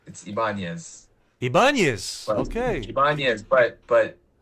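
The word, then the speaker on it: Ibáñez: Ibanez. Not quite. Ibanez. I mean, that's that. I allow people to do that because it's easier. But no, it's Ibanez.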